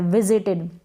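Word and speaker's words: visited: यहाँ पर ये जो आई है दोनों आई को छोटी ई के रूप में पढ़ा जा रहा है, विजिटेड, विजिटेड। और ये जो एस है ना इसको विजिटेड नहीं पढ़ेंगे, विजिटेड नहीं, गलत हो जाएगा, ज के रूप में हो रहा है।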